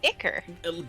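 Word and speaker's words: ichor: where'd this come from or icker right it's like um yeah so it's icor um it's icker go on google right now and have it pronounce it for you yeah so uh yeah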